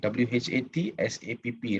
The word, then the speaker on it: WhatsApp: Tapi itu adalah sebutan yang salah. What is the right way to pronounce? The right way to pronounce is WhatsApp. App. WhatsApp. Ya. App ni berasal dari perkataan application.